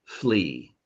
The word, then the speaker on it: flea: Flea. Flea. Flea. Um, the A in flea is silent, so it's just pronounced flea.